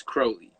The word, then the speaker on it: Crowley: crowley crowley crowley um a lot of people mispronounce his name wrong but you think of the word holy it's crowley um do without will